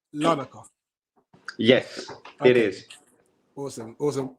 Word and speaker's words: Larnaca: And just for clarity, is it pronounced Larnaca?